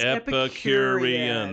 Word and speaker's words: Epicurean: It's Epicurean. That is five syllables, and I don't usually get past two.